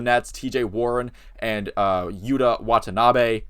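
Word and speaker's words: Yuta Watanabe: and uh Yuda Watanabe excuse me if I got the wrong but I do think I pronounced that right I did make sure to I made sure to watch some clips to get that last name right uh were impacted off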